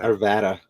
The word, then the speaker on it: Arvada: it's ni nice you keep wanting to say Arvada when it's really Arvada Arvada yeah Arvada it's it's